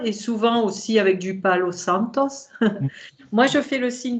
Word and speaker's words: Palo Santo: Par contre, le Palo Santos, l'encens Palo Santos, c'est comme ça qu'on prononce. Ouais, Palo de Santo, Palo de Santos.